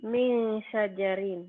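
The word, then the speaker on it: مِنْ شَجَرٍ: Kemudian ini min syajarin dibacanya jadi apa? Jadi min syajarin. Kenapa? Ya, nun mati ketemu shin. Shin Jadi ya. bacanya jadi eng.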